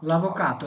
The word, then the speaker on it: l'avvocato: l'avvocato, এই যে তি তি তি, এটা আপনারা দ বলবেন না, দ দ, l'avvocato এটা তি। ওকে, l'avvocato, উকিল, উকিল।